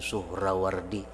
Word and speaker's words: Suhrawardi: pada tahun 539 bi Suhrawardi. Sebenarnya membacanya itu Suhrawardi, nyanta baca Suhrawardi. Suhrawardi bisinin muhmalah madmumah suh, wara'aini al ulama tuhatun